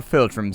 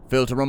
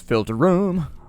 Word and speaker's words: filtrum: point the Han 4 filtrum system filter them on up that's actually how it's pronounced filter them it's not filtrum it's filter room filter room on up